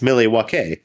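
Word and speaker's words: Milwaukee: American tribes of Wisconsin actually it's pronounced Millie W that's what I imagine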